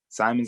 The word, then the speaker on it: Simons: Simons, I think is how you pronounce it.